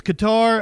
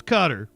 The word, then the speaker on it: Qatar: I've always thought it was Qatar. Apparently, us Westerners can't really get close to the pronunciation. It's kind of like a guttural sound. So the closest that we can get is saying Qatar, apparently.